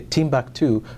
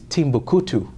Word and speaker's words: Timbuktu: know people say to I've heard them say Timbuktu by the way it's not pronounced it's not pronounced Timbuktu it is Timbuku right it's different Timbuktu and Timbuku are two